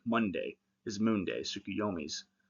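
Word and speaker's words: Tsukuyomi: So you see that in like Monday is moon day, sukuyomi's uh day, not sukiyomi's day, but tied to him through moon day.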